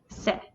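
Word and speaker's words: せ: goes all the way back over this is se last but not least for the s consonant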